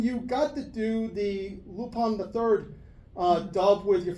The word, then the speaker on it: Lupin: Basically, Lupin, you said it right.